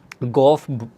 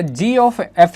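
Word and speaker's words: g∘f: b two functions, then the function g ऑफ f, गॉफ sometimes बोलते, बट गॉफ इज नॉट a right word to, क्या बोलते, pronounce.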